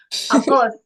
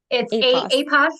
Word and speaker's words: Apos: before this began, and I was under the impression it was após, which is Portuguese for after. And I thought, oh yeah, that totally makes sense. It means after, right? No, it's APOS is how you say it.